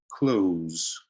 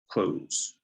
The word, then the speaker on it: close: photographer photographer all right the next word close so what word does that sound like exactly as if you were closing a door open close it's exactly the same pronunciation close all right third we